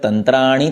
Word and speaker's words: तंत्राणि: ण और न इनमें अंतर है, इसलिए पृथक तंत्राणि ते निरे, तंत्राणि और ते निरे, ऐसे ण और न में उच्चारण में भेद आना जरूरी है।